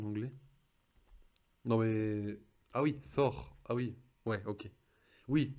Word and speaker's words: Thor: Thor, c'est pas Thor. Attends, qu'est-ce que tu me trolles là? Non mais là tu me trolles. Le T il se prononce. Bref, on pourrait faire une liste.